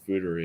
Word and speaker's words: foeder: Those are fooders. Something like that. Simply put, a fooder is a large barrel. Fooder, pronounced food-er, is the Dutch word for a large oak tank where beer is fermented.